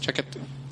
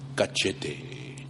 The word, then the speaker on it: cachete: Chaquete. Cachete. How you say it? Cachete. Chaquete. Ca. Ca. Che. Cachete.